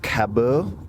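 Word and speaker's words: Cabeau: This, and I'll do my best here, Caboo Cab I I believe is the pronunciation, c a b e a u, and it has evolution pillow written on the side.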